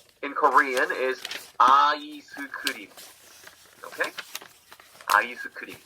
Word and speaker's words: 아이스크림: 아이스크림. 5 syllables. It's 2 syllables in English. Ice cream. 아이스크림. 5 syllables.